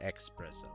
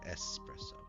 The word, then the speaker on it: espresso: No, it's not expresso, it's espresso.